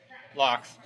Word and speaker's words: Laux: get off the table right now is the pronunciation of your last name locks locks okay la you X I wasn't sure